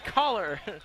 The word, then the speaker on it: Kaylor: caller the senior Kaylor Kaylor is the last name Kaylor caller it doesn't look like how it's spelled Bing Kaylor TouchDown for